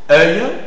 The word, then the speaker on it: œil: Œil, tu dis œil, hein, tu as difficulté à mettre le lèvre arrondi.